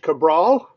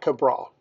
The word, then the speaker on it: Cabral: his name he said it's like the Backyard Brawl this guy already gets